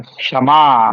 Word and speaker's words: क्षमा: बन जाएगा ल ख अब इसको उच्चारण करिए क्ष से क्योंकि बहुत सारे लोग इसको ये वाला क्ष बोल देते हैं कौन सा वाला च वर्ग का दूसरा अक्षर बोल देते हैं है ना तो